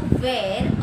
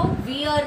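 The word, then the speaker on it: wear: Okay, तो वियर नहीं, वेयर.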